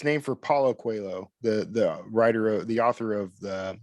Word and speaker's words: Coelho: reorganizing it and that became the it's it's pronounced qu quo Medallion it's spelled Coelho um but it's named for Paulo quo the the writer of the author of the